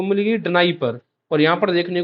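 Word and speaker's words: Dnieper: अब एक्चुअल में इसका प्रोनाउंसिएशन होता है नाइपर रिवर, या फिर निपियर रिवर भी कोई कोई प्रोनाउंसिएट करता है, बट मैं इसको डनाइपर ही बोलता हूँ।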